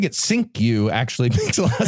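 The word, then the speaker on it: Cinque: Takeover of the slav ship Amistad okay well pronouncing it sinku actually makes a lot of sense there he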